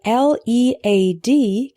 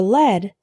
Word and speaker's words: lead: The word L-E-A-D can be pronounced lead or led.